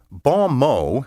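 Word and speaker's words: bon mot: spelled b e t e and n n-o-i-r-e bom mo means literally a good word in english it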